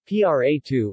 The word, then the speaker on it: Prato: pronto Italian pronunciation PRA to listen is a city and commune in Tuscany